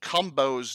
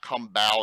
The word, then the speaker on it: Cumbo: I've also been told that I'm pronouncing Chuck Cumbo's name wrong for an entire year. It's not Cumbo, it's Cumbo.